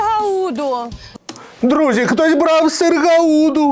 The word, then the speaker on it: Гауда: Друзі, хтось брав сир Гауду. Гауда.